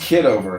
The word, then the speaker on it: Kitover: It's pronounced kid over.